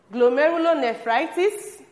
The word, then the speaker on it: glomerulonephritis: They include glomerulonephritis, kidney stones, diuresis, edema, and kidney failure.